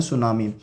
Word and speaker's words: tsunami: पढ़ेंगे जिसका नाम है सुनामी। आप यहाँ पर ये देख सकते हैं टी से शुरू हो रहा है, लेकिन टी हम इसमें साइलेंट रखते हैं, सिर्फ हम एस से स्टार्ट करते हैं इसको बोलना।